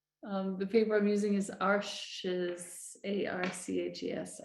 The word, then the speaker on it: Arches: The paper I'm using is Arches, A-R-C-H-E-S. I think it's pronounced Arche en français.